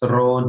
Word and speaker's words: rho: H d g, or we can say H rho g, or simply like proper pronunciation Rho GH.